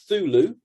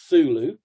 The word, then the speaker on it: Cthulhu: tells you you don't you don't pronounce the c or you half pronounce the c you know so there's either thulu or cthulhu so you're doing those